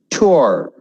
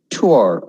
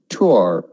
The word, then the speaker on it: tour: Tour. See how I say that? Tour. I'm going on a tour. Okay? Not tour. Tour.